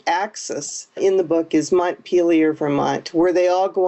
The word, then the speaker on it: Montpelier: title for one reason most people don't know how to pronounce it let me just set the record straight and say it's montpelier the capital of Vermont